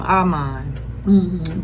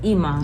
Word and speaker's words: Iman: I think it's Iman. Iman, okay? Iman. So I don't know why I be wanting to call him Arman. But it's Iman. It's Iman.